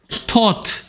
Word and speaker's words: taught: 그럼 이건 발음이 뭐겠냐? 텃. taught. GH 소리 안 나는 거 많이 봤을 거 아니야?